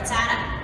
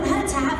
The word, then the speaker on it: Rattata: I don't know, because I remember Rattata from like a long time ago. And so now every time I do that, I have to say, Rattata, frittata, Rattata, frittata, Rattata.